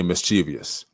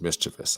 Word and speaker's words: mischievous: you're being mischievous and some of you might say mischievous the correct way to say the word is mischievous i'm just saying so